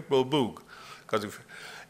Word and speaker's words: Beaubourg: is the Centre Pompidou, which they call Beaubourg, just to pronounce it the right way, Beaubourg, and the Eiffel Tower.